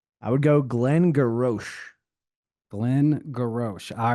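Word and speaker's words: Glen Garioch: I would go Glengarioch. Glengarioch. All right, well, I will spell it for everybody. It's Glen, Glen, Garioch. Glengarioch. Close. Glengarioch. Just you can drop the ock. They just go Glengarry.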